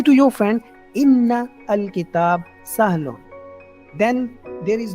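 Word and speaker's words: إِنَّ: तो जब भी if there is word inna or anna, okay, sometimes it appears with zer, inna, and sometimes it appears with zabar, anna, but meaning remains same.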